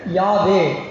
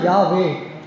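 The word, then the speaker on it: Yahweh: ஆனா இப்ப ஒய் ஹெச், டபிள்யூ எச்சு என்ற வார்த்தையை உச்சரிக்க முடியாது ஏன்? அதுல வௌவல்ஸ் உயிரெழுத்து இல்ல. ஆங்கில உயிரெழுத்து இல்லை. அப்ப அத உச்சரிக்கணும்ங்கறதுக்காக Yக்கு பக்கத்துல ஏ போட்டாங்க. Hக்கு பக்கத்துல ஈ போட்டு யாவே அதை உச்சரிச்சு சொல்லணும்னா யாவே.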